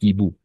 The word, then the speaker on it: hiboux: On va prononcer les hiboux, los búhos, d'accord? Voilà, parfait. N'oubliez pas, E, H, S, X, T, P, Z à la fin sont muets, d'accord?